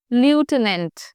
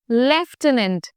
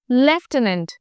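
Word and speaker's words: lieutenant: to pronounce this word you don't say लिटनेट यू से लेफ्टनंट एज if there is एन एफ इन the middle लेफ्टनंट let's check the meaning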